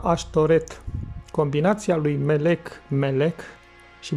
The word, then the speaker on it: Ashtoreth: In Hebrew it is pronounced Ashtoreth.